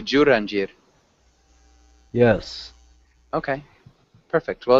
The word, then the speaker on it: Jurandir: And how do you pronounce your name? My name is Jurandir. Jurandir. I'm from Brazil. I'm living in Brasilia. Okay. And am I saying it correctly? Jurandir.